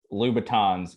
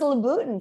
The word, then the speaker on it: Louboutin: I'm also the guy who thought that Louboutins were pronounced Louboutins, because I was like, oh, it can't sound like Louis Vuitton.